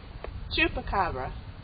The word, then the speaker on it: Chupacabra: Today, we're going to take you on a wonderful adventure to find an amazing creature, the how do you pronounce it again? Chupacabra.